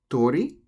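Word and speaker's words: 鳥: different words such as tori means bird but when you write it out with the apostrophe above the o that would mean street so tori bird same word in ramadi tori means street because it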